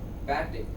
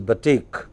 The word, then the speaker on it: batik: ballistic, ballistic, barbarian, barbarian, barbaric, barbaric, barbarity, barbarity, batic, batic, No, it is batik.